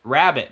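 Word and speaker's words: Rabat: Rabbit, guys. R-A-B-A-T. It's spelled a little differently, but that's still rabbit, right?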